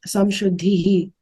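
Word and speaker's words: संशुद्धिः: might be wrong, but when there's a ra at the end of a line in a shloka, I think it's pronounced as ihi. So like it's abhayam sattva samshuddhihi, from what I have learned.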